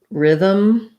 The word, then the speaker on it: rhythm: Vowel letters, we have, for example, the word rhythm, but that has the I vowel because Y can stand in for a vowel letter.